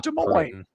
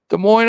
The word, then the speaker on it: Des Moines: It's in Des Moines. Des Moines, Iowa. And the S is silent.